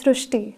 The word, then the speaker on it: Srushti: So that is why the pronunciation goes Srishti.